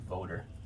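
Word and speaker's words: Wouter: w w u t e r interesting he pronounced voter he's German he's South African he's South African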